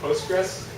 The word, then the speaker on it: Postgres: then this thing is called this this is pronounced postgres and then you have sqlite and then Microsoft